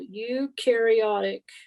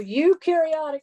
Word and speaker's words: eukaryotic: therefore they are called eukaryotic cells they're going to throw that at you so eukaryotic cells have membrane-bound organelles okay now remember this trick you carry o u rhymes with okay so you do have